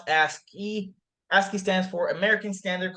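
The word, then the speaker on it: ASCII: into an intro to asky values right so pronounce asky aski stands for American Standard code for information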